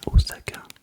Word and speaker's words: Osaka: Il est possible que je l'ai acheté à Osakain et non pas Osakain. On dit bien Osaka parce que le S se prononce et le Z.